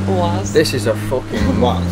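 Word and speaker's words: УАЗ: Yeah, OAS is a Russian car, and you all pronounce it in a wrong way, because it's not US, it's OAS.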